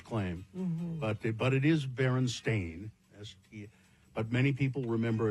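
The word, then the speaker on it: Berenstain: For instance, the Baronstein Bears book being spelled and pronounced Stein or not Stain as the publishers claim but but it is Baron Stain as but many people remember it as Steen or Stein.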